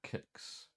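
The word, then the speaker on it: Qix: right okay see if quicks work kicks works okay i think i just pronounced kicks i called it quicks as i could just because it had a cue in it but kicks fix sometimes in these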